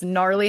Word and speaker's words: gnarly: it was clever because gnarly has a silent G and then I spelled